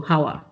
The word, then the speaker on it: Hauwa: In case if you're curious, it is pronounced, well, I usually tell the non-Nigerians that it's pronounced like flower, but with a house, so Hauwa.